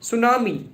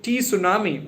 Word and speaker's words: tsunami: to pronounce it like Tsunami because T is silent there but I used to call it like Tsunami but correct pronunciation is tsunami because T is silent.